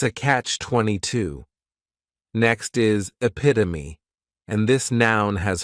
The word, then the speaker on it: epitome: This is a word that when you see it, many times people may mispronounce it because the 3rd syllable has that schwa, and the last syllable is that long epit-o-me.